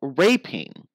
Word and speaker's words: raping: Okay, well, raping. Raping. So a long A.